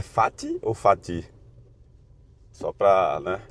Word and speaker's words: fati: É fat com a força no fá, amor fat no latim fat a tonicidade cai na primeira sílaba.